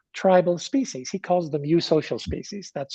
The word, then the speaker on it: eusocial: there are nine tribal species he calls the mu social species that's spelled e-u-s-o-c-i-a-l and those nine species have what